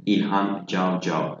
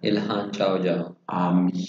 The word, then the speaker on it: İlhan Cavcav: İlhan Cavcav. İlhan Cavcav.